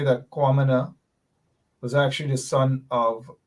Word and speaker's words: Kwamina: On the other hand, Kwamina, spelled with a K, K-W-A, Kwamina, not Q.